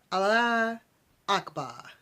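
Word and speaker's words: Allahu Akbar: ears the sound became Allah Akbar Allah Akbar I know I said the Akbar correct I'll spell it for you al l a h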